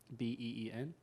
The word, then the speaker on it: been: BEEN. Yeah, like I've been doing something. I've been doing something. I do it with an I vowel. It's with an I vowel as in sit, an E vowel as